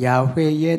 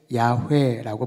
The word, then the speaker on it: 야훼: 또는 야훼의 날이라고 하기도 합니다. 공동 번역에는 여호와를 야훼라고 번역을 했고요. 그것은 실제로 히브리어 성경이 야훼라고 하기 때문에 그 발음을 그대로 옮긴 것이고 우리 개역 개정에는 오랫동안 우리에게 익숙한 그러한 번역어인 여호와라고 풀어서 번역을 했습니다.